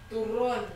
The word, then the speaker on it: turon: Turon.